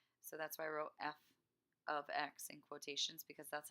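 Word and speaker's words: f(x): that's why I wrote f of X and quotations because that's how you pronounce this is not F times X even though parentheses usually means multiplication not for function notation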